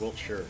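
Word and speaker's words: Wiltshire: Wilt sure is pronounced Wilt sure yes I am aware that UK place names do not pronounce any of the center syllables so Chet his favorite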